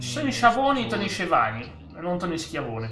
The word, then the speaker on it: Schiavone: Tony Tony si dice Tony Shavoni non Tony Tony Shavoni.